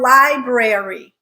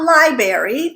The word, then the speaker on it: library: Library or library. Again, there is an R in there, just like in February. Say it, not library, library.